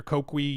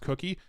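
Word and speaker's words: Coqui: voice cloning that's also what that Ki or kwii uses or cookie o somebody say it's pronounced cookie man all of my potential pronunciations must have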